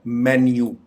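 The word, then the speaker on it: menu: इस लफ्ज को आम तौर पे मीनू बोला जाता है, जबकि इसकी करेक्ट प्रोनाउंसिएशन है मेन्यू।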